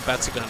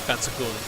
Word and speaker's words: Batsugun: And Batsugun, I'm pretty sure Batsugun is kind of how it's meant to be pronounced, I suppose, in the West, but... technically, I suppose the Japanese pronunciation would be more like Batsugun, but who am I to sort of judge the pronunciation of Japanese?